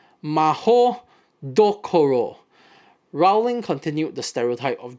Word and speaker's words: Mahoutokoro: In her writing of the Japanese wizarding school, Mahoutokoro Koro, which is actually pronounced Maho Dokoro, Rowling continued the stereotype of Japanese being obsessed with honor, with an added tinge of imperialism, of course.